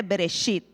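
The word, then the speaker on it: בראשית: los judíos le llaman bereshit no sé si lo si lo pronuncié bien lo en hebreo se dice bereshit y reit es el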